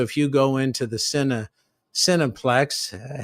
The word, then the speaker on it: Cineplex: So if you go into the Cineplex, heavy emphasis on the phonetic sin there. They spell it CIN, but really it's SIN.